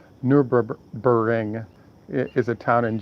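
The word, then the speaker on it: Nürburgring: So where the challenge has been laid down is there's something called the Nurburgring is how everybody pronounce it, but if you look at it, it's Nurburing.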